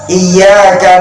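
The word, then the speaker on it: إِيَّاكَ: Pertama, di kalimat pada ayat iyyaka na'budu wa iyyaka nasta'in. Maaf Bapak Ibu, masih ada imam rawatib yang membacanya iya-nya tidak ditasdid menjadi iyyaka na'budu wa iyyaka nasta'in.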